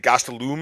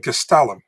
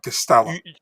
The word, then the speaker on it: Gastelum: do you think do you know that we pronounce Calvin's last name wrong all the time and everybody does. Is it Gastelum or something or No, it's Calvin Castellum. Calvin. Yeah, Castellum.